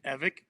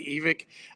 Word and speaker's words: Evick: no mispronouncing it I my side of the family has always said evik um and I there's other fan there's other parts of the family that say evic I it doesn't you